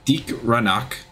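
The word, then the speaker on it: Deag Ranak: With the elimination of Deke Ranach, That's how you say it.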